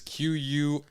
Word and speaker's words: Quirrell: It is Quirrell. Fuck. Yeah, Double Quirrell. R and It's like double squirrel. Like squirrel.